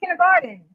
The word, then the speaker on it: kindergarten: We pronounce it with the D in there. Kindergarten.